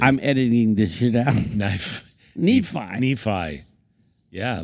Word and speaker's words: Nephi: Thank God I have access to these files because he just mispronounced my name. You called me short. Knee-high. What the fuck does that mean? Knee-high. Short. It's Nephi.